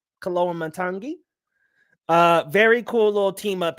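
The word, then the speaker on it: Koloamatangi: I think his last name is pronounced Kaloa Matangi. Kaloa Matangi.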